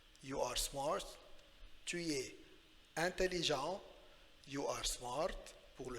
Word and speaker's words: intelligent: Alors, tu es intelligent. Intelligent, le T est muet, silent T at the end. You are smart. Tu es intelligent.